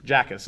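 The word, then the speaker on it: Jakus: One of their assistants was a former Zag assistant, John Jacas, I want to say is the pronunciation. Jackas is the pronunciation.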